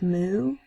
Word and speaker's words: mu: friction equals 150 = mu and the normal is 17325 s people say me they say it like moo like what a cow says there's a lot of